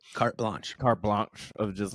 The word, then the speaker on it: carte blanche: That's because that's the brilliance of also like PBS that told Jim that they just gave him carpe blanche. How do you say it? Carte blanche.